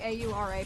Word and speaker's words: Aura: Is it pronounced Aura? Or is it specifically A-U-R-A? Please let me know if I've been mispronouncing your name since you raided. Names mean a lot to me. Also, but works all the same. If it's pronounced Aura, okay, perfect.